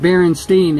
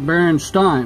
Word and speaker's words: Berenstain: I remember that because I said Berenstain, and my dad, he said, well, it's spelt like Berenstain. My dad's passed away now a long time, but Berenstain, and he said, it should like Frankenstein. And I said, no, it's Berenstain.